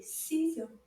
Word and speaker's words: ciseaux: Now there's lots of letters at the end of this word that don't make a sound. E, A, U, that again? Ciseaux. Now a little bit faster. Ciseaux.